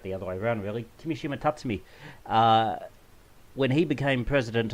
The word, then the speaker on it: Kimishima: It was announced this week when we're looking at this that Tatsumi Kishiyama will be stepping down in June. Kimishima. And I am going to butcher these pronunciations.